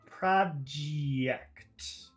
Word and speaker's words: project: let's say it slowly PR pro project project project project project project project we can discuss